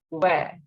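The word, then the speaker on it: vingt: Again, the sound of I-N is eh. So it is where. And the sound of T will not be pronounced. So it is where. 20 in French is where.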